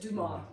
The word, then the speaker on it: Dumas: in French and the Duma we don't say the s a lot of his